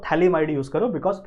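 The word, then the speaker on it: phthalimide: के बारे में तो थैली माइड यूज करो बिकॉज प्रोनंसिएशन इसकी सही क्या है थली might this P इज a silent समझ में आ रही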